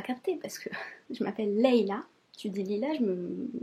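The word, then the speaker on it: Layla: l'avez en France aussi c'est pas parce qu' sécrit l a y la a qu'on prononce pas leilla c'est pas lailla leilla s'il vous plaît ça mon fait 17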